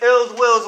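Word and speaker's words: Illz Willz: so my name is ills Will's Y to Z and that's ill will with two Z's and it's spelled I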